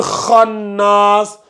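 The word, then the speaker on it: الخناس: Voilà, le kha, c'est une lettre emphatique. Et vu que c'est une lettre emphatique, il faut bien la prononcer.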